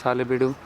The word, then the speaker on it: Halebiddu: I am in Halebiddu, I pronounced as Halebiddu locally, and we're looking at the famous Hoysaleshwara